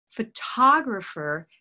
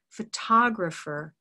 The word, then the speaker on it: photographer: photograph rows bowed photograph photographer has stress on the second syllable photographer and it has to be said like this because if you say photograph er it won't be understood very easily by your listener so we say photographer photographer olive sock photographer now